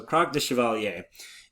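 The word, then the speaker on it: Krak des Chevaliers: take back Jerusalem um so Croc de Chevalier is how you would pronounce that and I just I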